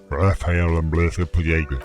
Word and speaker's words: Raphael Ambrosius Castillo: My name is Raphael Ambrosius Castillo. Yes. That's how you pronounce it.